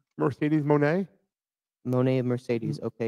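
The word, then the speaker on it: Moné: Mercedes Monet. Monet of Mercedes, okay. Well, it's really money. I just don't ever say it that way.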